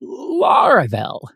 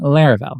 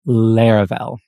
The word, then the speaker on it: Laravel: Uh, in fact, when people heard the word, they called it Laravel, not Laravel. And actually, some people still do today, but trust me, the correct pronunciation is Laravel.